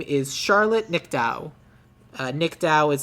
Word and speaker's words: Nicdao: Her name is Charlotte Nickdow. Nickdow is spelled Nicdao.